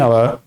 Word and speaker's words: hour: So here look at here 50 rupees a kilo 60 60 60 60 km an hour. Okay. So once a week. Okay. Here h is silent.